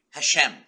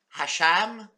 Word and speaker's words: Hashem: sort of religious God has a name called Hashem Hashem now I ran into a Jewish fella a couple of weeks ago and I said the name wrong he says it's not Hashem I know I know it's not the laughs